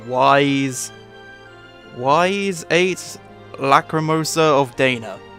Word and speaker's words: Ys: I've never actually tried to say the name wise wise eight lacrimosa of Dana I think is